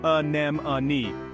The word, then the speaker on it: anemone: it down a a notice how the stress is on the second syllable nem repeat after me a nem a excellent you're a natural